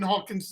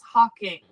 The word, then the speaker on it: Hawking: with Y last names it's Hawking but you just keep we just keep mispronouncing everything right like the Menendez brothers you can mess that up their murderers Stephen Hawking like come on so don't put an S well I I was